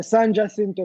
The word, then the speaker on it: San Jacinto: San How you pronounce it? Jacinto, San Jacinto College.